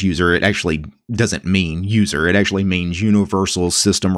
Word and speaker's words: usr: has three letters usr everybody pronounces it as user when they're talking about the path so i'm going to